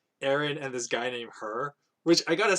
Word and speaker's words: Hur: No, it's like this dude named Hur. But of course, this Hur is spelled Hur. Still pronounced the same way.